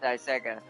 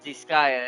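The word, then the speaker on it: Disgaea: I used to call it DGA, but it's Disaya.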